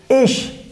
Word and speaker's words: ich: we have is ish i see h ish the pronunciation in german language is quite easy because whatever you write you speak in the same way just like in english so i don't think that would be a problem here in german language for you so ish ish ish that's how you have to pronounce and that has simple meaning